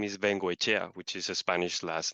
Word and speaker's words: Vengoechea: So, but your last name is pronounced similarly. Vengoechea.